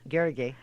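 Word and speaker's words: Garrigue: Garrigay.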